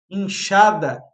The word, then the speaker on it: enxada: Inchada tem o som de X mesmo, né?